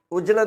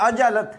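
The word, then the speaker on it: عجلت: अगला लफ देखें जी इसको उजरत बोलते हैं मैं बहुत उजरत में था जल्दी में था तो इसका जो करेक्ट प्रोनंसिएशन है वह है आइन और जीन दोनों के ऊपर जबर लाम पर भी जबर यह अजल है अजल और अगला ल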